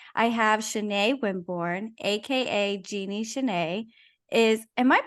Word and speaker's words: Genie Chanai: I have Chanai Wimborne, aka Genie Chanai. Am I pronouncing your name correctly?